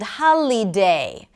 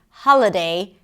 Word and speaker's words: holiday: For example, melody and holiday and station instead of melody, holiday, and station all had the same sound, the schwa sound.